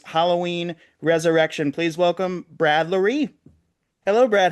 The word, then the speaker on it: Loree: It's pronounced like the word calorie or cutlery. Loree, Ah, Loree. Yeah, it's a francophone version of the Irish name Lowry.